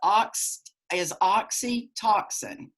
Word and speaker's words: oxytocin: And that hormone is oxytocin. OXYTOCIN is how you pronounce that.